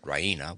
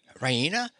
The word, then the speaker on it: Raina: full of good news ryina she pronounces it raina with the stress on the e raina she goes to the